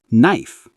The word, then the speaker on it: knife: often pronounce them examples K is silent. No. Knife.